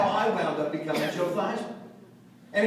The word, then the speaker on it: Theismann: think by just simply changing the pronunciation of your last name from Theismann to Theismann to rhyme with Heisman, we can guarantee you that trophy. And that's how I wound up becoming Joe Theismann.